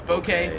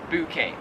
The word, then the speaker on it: bouquet: so i say yeah bouquet but like a soft o bokeh here in australia they would pronounce it bouquet a bouquet of flowers